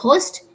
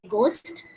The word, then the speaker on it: ghost: We don't say ghost. We say ghost.